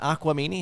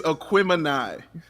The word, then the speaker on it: Aquemini: It is Aquemini. Aquemini. That's my bad with the syllable in the wrong syllable.